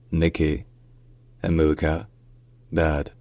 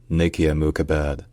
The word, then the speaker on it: Nikki Amuka-Bird: talent so in British English her name is pronounced Nikki amuka bad Nikki amuka bad Nikki amuka bad Nikki amuka bad so her